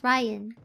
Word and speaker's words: Ryan: Oh, maybe you didn't hear me earlier, but yes, my name is pronounced as Ryan. Yeah, like like the guy like the guy like a dude's name.